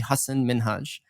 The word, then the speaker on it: Hasan Minhaj: Ellen DeGeneres he was like no one's actually Husson min Hajj and he was telling her how to say